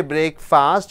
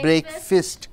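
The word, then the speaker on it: breakfast: garb asthma asset biology break fist you don't say break fast you say break fist bracelet beginning buff it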